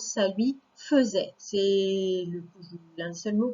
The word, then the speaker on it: faisait: Mais donc, on prononce ça lui faisait. C'est l'un des seuls mots qui est comme ça. Il y a écrit faisait, mais on dit faisait.